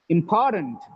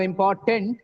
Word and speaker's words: important: important it is not important it is important just because of the stress on pvor oh the next syllable becomes weaker that is why it becomes stunned not then 10. tants has become turned because of the previous syllable stress on the previous syllable the turn becomes weaker important important okay